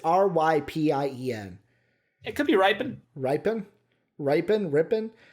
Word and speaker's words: Rypien: Rippin is starting. I swear to God, I don't know how to pronounce his name.